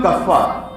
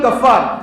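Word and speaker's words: Ghaffar: அப்துல் கஃபார் நான் சொல்லுவான் அப்ப கே வராது ஜி வரும் இல்ல என்னை எல்லாம் அப்படித்தான் கூப்பிடுவாங்க 10th் மார்க் ஷீட் அப்படித்தான் இருக்கு 12 மார்க் ஷீட் எல்லாம் அப்படித்தான் இருக்குன்னு இல்லையா வச்ச பேரு அப்துல் கஃபார் ஜி போடணும் ஜி ஏ எப் எப் ஏ ஆர் கஃபார்னா மன்னிப்பாளன்னு அர்த்தம் மன்னிப்பாளனின்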